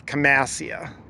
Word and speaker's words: Camassia: This is Camassia. That's how I say it. I may be saying it wrong.